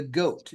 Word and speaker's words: GOAT: In fact, they call him in English the GOAT, G-O-A-T, which stands for the greatest of all time.